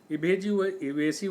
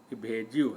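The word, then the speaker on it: evasive: इवेसिव हम लोग पढ़ते हैं, लेकिन इसका जो सही उच्चारण है इवेजिव है।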